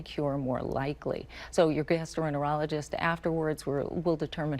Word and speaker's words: gastroenterologist: And I need to call my general practitioner or my gastroenterologist. Enterologist. I know, your GI doctor. Missing a syllable there, sorry.